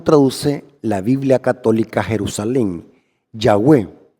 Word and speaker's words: Yahweh: sea que al principio el nombre de Dios no era Jehová sino que es Yahweh la vocales de adonay se le incrustaron a las cuatro consonantes para poderse pronunciar Yahweh lo interesante es que